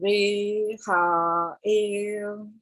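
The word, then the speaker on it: Rehael: So in an American, you would sound it differently, but the sound for Reha-el is that, like rehabilitation, same thing.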